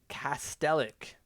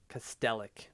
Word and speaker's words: Kastelic: I don't know if that's a soft C or not. Clearly, when it comes to hockey cards, they don't add the soft C there. But I'm going to say it's Kastelich because they don't have the accent on top of that C.